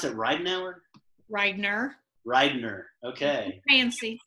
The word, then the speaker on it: Ridener: Do you pronounce it Ridener? Ridener.